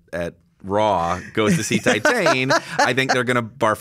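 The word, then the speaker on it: Titane: raw goes to see titan i think they're gonna barf again because raw is a conventional film compared to titan i think yeah i think that's how you say it in french teton um because yeah like that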